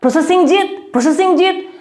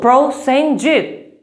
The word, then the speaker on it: Prosenjit: Processing Jit? No, it's not processing Jit. It's simple. Prosenjit. And it's a trisyllabic name and there's a pro in my name.